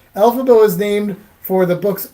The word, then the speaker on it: Elphaba: Elphaba was named for the book's author, L. Frank Baum. If you say his name real fast, it sounds like L. Frank Baum.